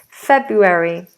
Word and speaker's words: February: February but February Feb we pronounce the r this is an R we do pronounce febuary February February February febru February